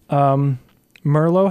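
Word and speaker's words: Mirlo: So thank you, Jacob Hash and Merlo Hash. I think M-I-R-L-O. I think so, yeah. That's how you pronounce it. Merlo Hash, thank you for telling me that you like my show.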